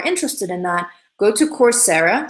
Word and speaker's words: Coursera: So if you are interested in that, go to Coursera. So it's spelled Coursera, Coursera, like course, but Sarah.